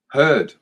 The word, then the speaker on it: Hurd: It rhymes with bird. Hurd.